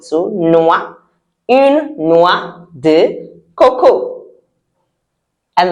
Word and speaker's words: noix: I know the spelling doesn't even look like that because OR in French sound wa and the X we don't pronounce it. So noix, une noix de coco.